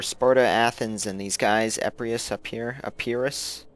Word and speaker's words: Epirus: So, using my little pre-order bonus, the Greek city-states, which were Sparta, Athens, and these guys, Epirus, I guess. Said it wrong the first time.